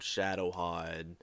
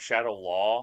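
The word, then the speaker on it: Shadaloo: It's like, okay, so this is more revolving around Shadowhide and like taking them down. What is it? It's pronounced like Shadow Law. You said it's like Shadow Lu.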